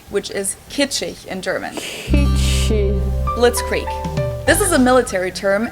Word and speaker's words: Blitzkrieg: actually had been used way before that we pronounce it Blitzkrieg in German and it literally translates to lightning